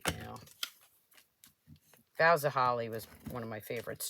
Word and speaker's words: Boughs of Holly: Why I was putting an R in it and calling it burrows of holly, I don't know.